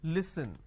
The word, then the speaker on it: listen: Now the listen word pronounced as l, e, s, li. So let me add a dash after that so that it's easier for you to understand. Okay, it's pronounced at li, s, n. Listen.